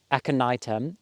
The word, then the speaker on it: aconitum: It's called, now I know how to pronounce it right, aconitum or monk's hair, because last time I pronounced it completely off.